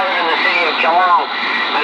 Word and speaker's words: Geelong: The city I live in, Joe, it'd be 350,000 has been here in Geelong. I live in the city of Geelong, and it's spelled Golf, Echo, Echo, Lima, Oscar, November, Golf.